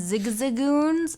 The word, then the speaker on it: Zigzagoon: Starting out, I found there was too many Talos and Zigzagoons.